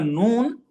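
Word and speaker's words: ن: The letter noon, okay, is pronounced by placing the tongue just behind the makhraj of lam. So lam is going to be in front, al, and noon is going to be behind, an.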